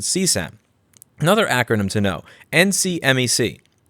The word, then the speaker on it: CSAM: People familiar with the lingo seem to pronounce it CSAM.